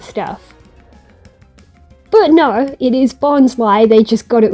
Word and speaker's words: Bonsly: Mime Junior and Bonsly both are Pokémon that were shown off in Lucario on the Mystery of Mew. Although, funnily enough, the anime in that movie, they mispronounced it as Bonsley, which is why a lot of people mistakenly